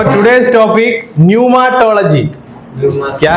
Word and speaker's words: न्यूमाटोलॉजी: है सो टुडेेस टॉपिक न्यूमाटोलॉजी क्या है न्यूमाटोलॉजी वहां पी है पी साइलेंट है इंग्लिश में ऐसा एक